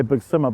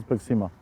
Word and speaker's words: BigSima: Because a lot of people just say BigSima, but it is BigSima.